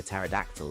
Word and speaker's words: pterodactyl: Why can't you hear a pterodactyl go to the bathroom? Oh yeah. You know the P is silent.